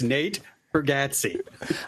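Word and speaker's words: Nate Bargatze: It's Nate Bergazzi. That's how he pronounces his name.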